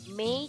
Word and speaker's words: may: kita akan mempelajari modal me cara membacanya seperti membaca bulan me Oke next jadi model